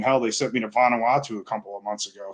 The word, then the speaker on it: Vanuatu: I mean, hell, they sent me to Vanuatu a couple of months ago, so that was weird. Where is? I'm glad you said how to pronounce that. Where is it? So Vanuatu.